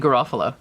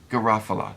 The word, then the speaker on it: Garofalo: pierce paul rudd and uh how do you pronounce her name janine janine garofalo garofalo yeah garofalo it sounds like a storybook that